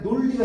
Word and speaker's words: 논리: 논리도 리을 때문에 논리가 아니라 논리가 됐죠.